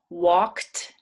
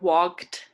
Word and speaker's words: walked: um simple present sense walked not wed it's walked makes like a t sound at the end even though it's a d so walk walked past